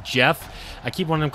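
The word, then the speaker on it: Geoff: screwing me up because it's spelled g-e-o-f-f but it's pronounced jeff i keep wanting to call him like goff or something he comes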